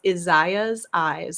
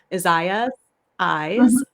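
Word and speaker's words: Isaya's Eyes: it out for you it's izaya's eyes so it's i-s-a-y-a I think apostrophe s Isaiah eyes like eyes and uh like she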